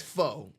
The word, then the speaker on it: pho: a Vietnamese spot, like it was like a pho spot or a pho spot, however the fuck you pronounce it. Yeah, I got Pho. slayed in my food reviews when I kept saying pho.